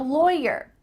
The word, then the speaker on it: lawyer: i'm a lawyer lawyer even though the root of this word is law the vowel is different when we're talking about the person loy loy it sounds like it rhymes with boy toy lawyer lawyer or maybe